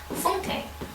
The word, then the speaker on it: Funke: And today we're going to be reviewing the fifth book in my 2019-10, and that is Inkheart by Cornelia Funke, or as I think it is actually pronounced, Funke.